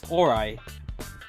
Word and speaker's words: Orai: Orai? Oh, is that how you say it? Orai? The man glared at him. It's Orai, he said.